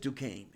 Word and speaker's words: Duquesne: I say, I live next door to Duquesne because here they pronounce it Duquesne.